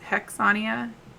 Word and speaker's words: Hexsania: so zahidis and then her name is hexsania um so the x is silent and she is my